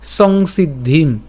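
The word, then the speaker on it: সংসিদ্ধিম্: এরপর হি স সিদ্ধিম এইযে খেয়াল করেন এখানে সিদ্ধিম পর্যন্ত উচ্চারণ করলাম সিদ্ধিম আমি যদিও এখানে ভেঙে দিয়েছি কিন্তু উচ্চারণ করার সময় কিন্তু আমরা একসাথে উচ্চারণ করব উচ্চারণ কেমন হচ্ছে সংসিদ্ধিম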